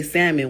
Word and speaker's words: salmon: If y'all just want us to say salmon, why the you put that L there?